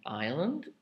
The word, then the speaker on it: island: now we do the silent s aisle is spelled in this case a i s l e and island is i s l a n d isle is for example